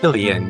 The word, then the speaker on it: Filion: Today we have the author, is it pronounced Fillian? Fillian? Fillian, yes.